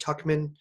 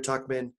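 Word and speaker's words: Tuchman: Prize winning book by Barbara, I believe it's pronounced Tuckman, and it's actually about 14th century France.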